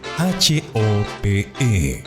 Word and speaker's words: Hope: Se escribe H-O-P-E. Se pronuncia Hope.